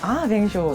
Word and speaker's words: vin chaud: 디저트까지는 아니지만 제일 유명한 거 방쇼가 뱅쇼. 방쇼가 아, 있잖아요. 네. 그 와인 발음이 되게 따뜻한 와인.